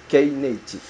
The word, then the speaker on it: Knative: Et ça se prononce Knative.